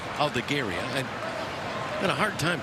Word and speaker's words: Aldegheri: I know they pronounce it Gary. Aldegheri.